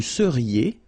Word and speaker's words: seriez: Vous seriez. So here when you've got this EZ at the end, then you get the sound E, seriez.